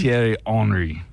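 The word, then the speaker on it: Thierry Henry: it's the hry part they said Terry H tiry hry uh nitpicking somebody else says that I'm not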